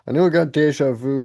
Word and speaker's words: déjà vu: Let me just see how if we're pronouncing these correct. I know I got deja vu correctly.